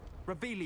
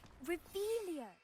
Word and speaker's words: Revelio: Where are you, Revelius? You're saying it wrong, Revelia.